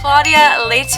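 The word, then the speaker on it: Claudia Leitte: pronouncing her name right but it's claudia leyte i think is how you say it l-e-i-t-t-e again i don't want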